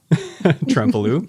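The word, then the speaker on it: Trempealeau: Trempelo, sorry. Muscadet is definitely not pronounced the way it's spelled.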